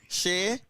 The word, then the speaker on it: Shea: performance i don't want to pronounce the gentleman name wrong what's your name again shave shay yes okay you're a dancer right and have